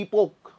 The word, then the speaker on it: epoch: इपोक जो भी बोलना है आप बोल लीजिए, स्पेलिंग EPOCH होती है। जो आपको अच्छा लगे वो बोल सकते हो। सी को साइलेंट करना है तो सी को साइलेंट करके ईपो बोल लीजिए, एच को साइलेंट करना है तो ईपोक बोल लीजिए, दोनों को करोगे तो वही ईपो हो जाएगा।